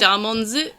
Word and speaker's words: Starmons: So it's got, like, a Z at the end. So it's pronounced Starmonz, like, and Pikmonz. So we actually do have